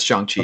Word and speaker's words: Shang-Chi: pronounce it yet. So, Yeah, it's Shang-Chi.